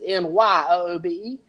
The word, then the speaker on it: Nyoobe: I was going to call it Newbie, and then how you pronounce Newbie is Nyoobe. So I called it Nyoobe, and guess what?